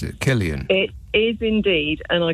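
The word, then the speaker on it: Cillian: you don't mind yeah to um Bond um klian is that how you pronounce it Killian it is indeed and I completely agree with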